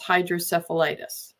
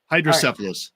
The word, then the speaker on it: hydrocephalus: can't change the fact that you have this hydrocephalitis. Did I pronounce that right? Almost. Very Almost? close. Hydrocephalus. It's all right. It's okay. Hydrocephalus.